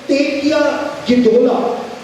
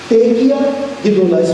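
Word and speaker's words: תקיעה גדולה: उसको यहूदी लोग कहते हैं तेकिया गिदोला। तेकिया गिदोला, स्पेलिंग बोल देता हूं, TEKIAH, तेकिया स्पेस गिदोला, GIDOLLAH, गिदोला। तेकिया गिदोला हिब्रू भाषा में कहा जाता है।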